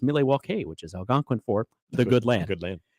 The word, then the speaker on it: Milwaukee: with the Native Americans and actually it is pronounced milewalke which is Algonquin for the good land yes